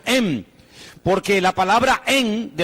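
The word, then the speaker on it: אם: palabra madre, que significa, o se escribe o se pronuncia em, porque la palabra en, de la cual viene la palabra fe, resulta que está entroncada con la maternidad.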